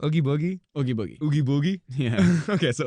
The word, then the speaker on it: Oogie Boogie: And also, okay, how do you pronounce his name? Oogie Boogie? Oogie Boogie.